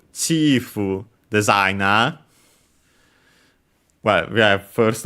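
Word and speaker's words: チーフ: And yeah, accented luckily, like in English on the first syllable, chief.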